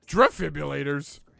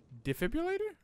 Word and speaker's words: defibrillator: have used the defibrillators drift fibulators i don't know how to say it defibrillator is it defibrillator yeah it's d there's no r in defibrillator except for the two r's near the end hold on i need